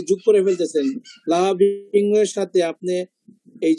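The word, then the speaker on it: لهب: এখন ইয়া যেটা শোয়েব যেটা বললো থামলে কি না থামলে কি, যেমন এই যে লাহাব, আমি যদি থামি তাহলে এটা পড়তে হবে লাহাব। থামা সবসময় জজম হয়, জজম জজমের মতো উচ্চারণ।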